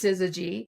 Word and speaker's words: syzygy: They could never spell it. They would say, is it synergy? No, it's syzygy.